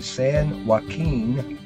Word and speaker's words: San Joaquin: at me if i don't i'm going to san joaquin delta california it's a level 34 waterway it's